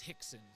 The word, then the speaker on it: Rickson: Oh, and Rickson is pronounced Hickson.